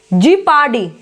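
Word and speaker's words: jeopardy: जीपार्डी, जीपार्डी। Okay, जियो लगा के नहीं बोला जाता है, जीपार्डी।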